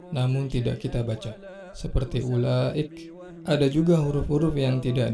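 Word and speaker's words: أولئك: Huruf waw setelah alif tidak boleh kita baca dua harokat. Ya, tidak boleh kita baca ulaik, nggak boleh. Ya, tetap dibaca satu harokat. Yang benar ulaik, hamzahnya atau alifnya dibaca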